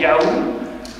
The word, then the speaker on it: YH: oui il y avait YH ça se prononce en fait Yao c'est sur la racine